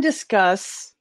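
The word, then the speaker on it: Disqus: Have you guys used any comment plugins that are not the ones that are hosted elsewhere, like Discuss or Discus, if you pronounce it incorrectly, or any of those other things?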